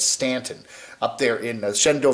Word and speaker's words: Staunton: park now that's virginia they always spell it s-t-a-u-n-t-o-n staunton but it's stanton up there in the